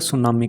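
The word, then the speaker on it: tsunami: सुनामी बोलते हैं ना टी कैपिटल टी इसके अंदर साइलेंट होता है सुनामी करके उसको बोलते हैं आप समझ रहे हो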